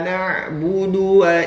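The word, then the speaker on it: نعبد: lagi iyaka naudu nah ini kesalahan pemula ini terkadang membaca huruf du ya nabudu Dya dipanjangkan ditambah huruf wau sukun ya jadi panjang nabudu iaka naudu tidak tidaklah seperti itu teman ya Jadi huruf du itu adalah ee pendek tidaklah panjang ya Jadi harus dibaca agak lebih cepat iyaka na'budu wa iya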